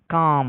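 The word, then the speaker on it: calm: সিএএলএম, কালম নয়, কাম মানে শান্ত।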